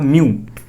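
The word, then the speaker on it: mu: ठीक है, म्यू बहुत लोग नहीं बोल पाते, देखो ये इसका प्रोनाउंसिएशन क्या होगा, म्यू।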